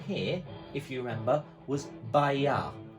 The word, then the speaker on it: bailar: So the first one here, if you remember, was bailar, but it's spelt with an L. It's by-ya. By-ya. Bailar.